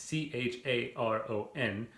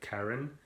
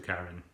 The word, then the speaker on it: Charon: pronounce the name it's c-h-a-r-o-n but i think based on like kind of the pronunciations of other greek names in mythology it wouldn't be like cheiron or charon it would be like karen so make that what